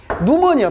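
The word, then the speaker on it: pneumonia: 지금 현재 진행 중인 이러한 감염을 예방하는 것으로부터 누모니아, 피가 묵음입니다.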